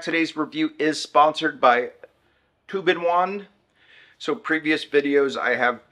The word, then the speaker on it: Tobenone: everybody Welcome Back today's review is sponsored by tuin onean so previous videos I have pronounced it as tub number one uh and a few other things but I finally figured out the correct pronunciation it's tuin Juan is the company that makes it all right